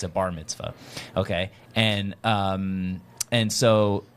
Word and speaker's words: Bar Mitzvah: told me that they're B Mitzvah how do you say it again Bar Mitzvah yeah that it was when